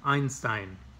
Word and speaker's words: Einstein: are going to pronounce when you see an i and an e together in either order you're going to pronounce the second vowel has a long sound like you would in english so Einstein is ein ste ein so e-i-e-i-o Einstein tada just like the number one